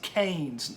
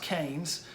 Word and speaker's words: Keynes: ke Y in ES Keynes it looks like key like you unlock a door and yes but it's pronounced Keynes it looks like Keynesian